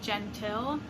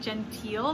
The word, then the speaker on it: Gentill: this is by solari gentile and i think i mispronounced it in the previous tbr video i said genteel but i think it's gentile and this is published